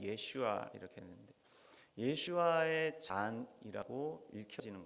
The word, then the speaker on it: 예슈아: 변형된 이름이죠 우리는 예수 차라리 한국말이 낮고 원래 발음 예슈아 이렇게 했는데 예슈아의 잔이라고 읽혀지는 거예요 히브리어로 그래서